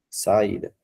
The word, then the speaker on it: saída: Como nós separamos saída? Fica sa e dá, né, pessoal? Veja que a sílaba aqui acentuada está na posição da penúltima.